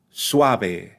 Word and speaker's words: suave: squished together right or the word Suave Suave Suave the first syllable has the U and the a pronounced together Suave another word that means